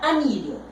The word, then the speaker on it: anillo: Entonces, vamos a suponer que yo tengo la palabra anillo. Anillo. Separo anillo. Esa es la sílaba más fuerte.